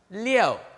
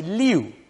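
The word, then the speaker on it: 六: a variation in pronunciation some people say leo maintaining the y-o-u yo some say loo making it look sound like more like liu and it's a variation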